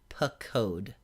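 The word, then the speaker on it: פקד: For the strong root, the infinitive construct is pakod. Pakod. So the markers are a vocal schwa in the first syllable and a holem, O class, in the second syllable.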